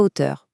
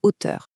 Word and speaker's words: hauteur: et de l'autre la hauteur, une mesure, une dimension. À l'oral, c'est presque identique. La seule chose qui change, c'est qu'on ne fait pas la liaison à cause du h muet de hauteur.